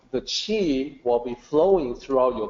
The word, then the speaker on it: Qi: So Qi is pronounced the same as CHI, Qi.